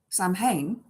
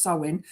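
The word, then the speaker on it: Samhain: Um so yeah um we start our new year with sewin sam hayne as it's spelled but it's pronounced sewin which is Halloween the 31st of October that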